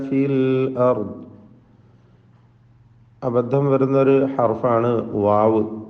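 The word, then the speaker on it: واو: അബദ്ധം വരുന്നൊരു ഹർഫാണ് വാവ്. വാവിൻ്റെ ഉച്ചാരണം വ്യക്തമായി 2 ചുണ്ടുകളിൽ നിന്ന് തന്നെ വരണം. അത് താഴെ ചുണ്ട് മേലെ പല്ലും ചേർത്തുകൊണ്ട് വ എന്നായി പോകരുത്. ഉവ എന്ന ചുണ്ട് വൃത്താകൃതിയിലാക്കിക്കൊണ്ട് തന്നെ ഉച്ചരിക്കണം.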